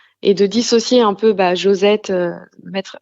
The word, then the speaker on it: JoZet: C'est vrai que phonétiquement, ça se dit José, c'est complètement vrai. En réalité, c'est Josette.